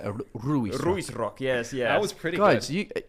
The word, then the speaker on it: Ruisrock: Ruisrock, yes.